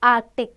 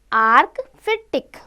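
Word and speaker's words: Arctic: क्योंकि स्पेलिंग है आर्कटिक कई बार होता है ना आर्टिक बच्चे लिख देते हैं सी को गायब करते हैं नहीं आर्क टिक तो हम क्या करेंगे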